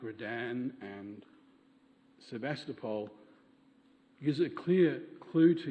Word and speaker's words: Sevastopol: In Ballarat, Sevastopol, or Sevastopol, but I believe its Russian pronunciation is Sevastopol.